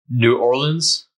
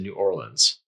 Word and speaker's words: New Orleans: This one's hard for me. There's New Orleans, New Orleans. I think New Orleans is probably the most correct, but I pronounce it New Orleans. And that might be just a regional thing. So you'll hear New Orleans, New Orleans, and other various versions of pronouncing this. So if you hear it said a couple different ways, that's normal. It's just kind of what